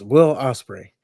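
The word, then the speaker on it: Will Ospreay: So golly, I know how to say his name. I promise. It's Will Osprey.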